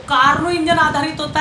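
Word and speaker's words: Carnot: ठीक है, तो लिखो फर्स्ट नंबर परिभाषा, टॉपिक तो लिखो पहले, टॉपिक लिखो Karnaugh engine. Karnaugh engine, Karnaugh अंग्रेजी में कार्नोट, टी साइलेंट रहता है।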